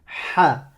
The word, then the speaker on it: ح: Je la répète, c'est la lettre ha, ha, ha. C'est pas A. Tu ne prononces pas que la voyelle A, tout simplement.